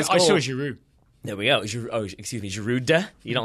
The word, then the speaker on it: Giroud: Giroud. You don't like that one? Giroud, and I think it's very rude to pronounce the D.